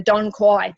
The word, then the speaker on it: dong quai: of other products, is the Tanque, which is pronunciation, the Dong Quai.